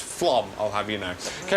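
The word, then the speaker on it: Flåm: No, it is not Flom. And in case anyone is reading that Facebook feed, that says Flam, but no, it's pronounced Flom, I'll have you know.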